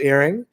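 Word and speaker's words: Héring: john herring for example spelled like herring right but pronounced earring and you know somebody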